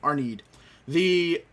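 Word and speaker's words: Arnheid: Arneed. Yes. I remember how to say it now. Arneed.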